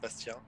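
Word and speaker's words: Bastien: fortress your name's bastion with an e as in french it's actually it's actually pronounced bastian but uh that's fine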